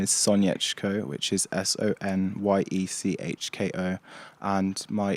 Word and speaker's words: Sonyechko: content at the moment Spotify my name is soniachco which is s-o-n-y-e-c-h-k-o and my Instagram is soniachco